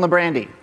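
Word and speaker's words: Librande: And earlier today, he told me that his name is pronounced to sound like Brandy, which some of us are thinking about right now. Is it being the end of the day? I give you Stone LeBrandy.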